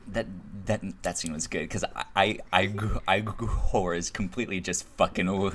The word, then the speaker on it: Igor: Like, when he first meets Igor, he's like, it's pronounced Igor, and he's like, he's just fucking is with it?